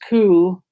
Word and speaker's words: coup: Coup, pronounced coup, coup is a French word that means to touch.